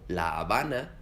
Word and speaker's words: La Habana: En español, la H no se lee. En las palabras Honduras, Héctor o La Habana, la H en ningún momento suena.